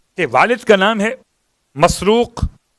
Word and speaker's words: مسروق: والد کا نام ہے مسروق، تین تلفظ ہیں الگ الگ الفاظ کے اعتبار سے، مرزوق، مسرور اور مسروق، میم سین رے واو قاف، مسروق۔ اس کا ترجمہ بڑا